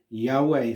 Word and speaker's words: Yahweh: the consonants y-h-w-h and the nearest pronunciation we're aware of is yahweh so where we find